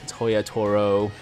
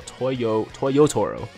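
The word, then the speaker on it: Toyotaro: I know that for the first login bonus, we're getting this amazing Toya Toro, is it Toya Toro? No, Toyo Toro. I think I've been saying his name wrong the whole time.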